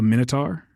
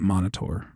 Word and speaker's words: Minotaur: the enemy was a Minotaur who was guarding his treasure, the Treasure of Tarman. But my mom, for whatever reason, pronounced it Monitor.